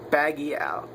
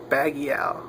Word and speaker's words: Baggial: Baggial. That's how I pronounce that shit. Baggial. Like Manny Pacquiao.